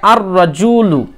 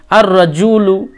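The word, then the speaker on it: الرَّجُلُ: কি নিয়ম ছিল যে আলিফ লাম যুক্ত হলে লাম এর উচ্চারণ হয় না ওকে তাহলে এখানে কিন্তু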